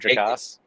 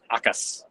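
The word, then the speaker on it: Jacas: It is not Jakass. It is hakas.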